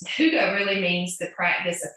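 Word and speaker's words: Hygge: So Huga is how you pronounce this blend, and it doesn't look anything like, it's not spelled how you would think you would pronounce it.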